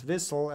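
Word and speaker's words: WHLSL: it VH LS l or pronounce Vissel as they say there and it's apparently a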